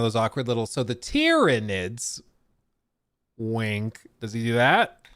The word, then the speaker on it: Tyranids: when like the main faction you're fighting are tyranids there's no U it's like a y so